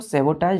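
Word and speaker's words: sabotage: लिया से क्लियर है पढ़ते क्या है इसको सबोटाज लेकिन लिखते हैं बच्चों टी के बाद ए जीी यहां पर टी के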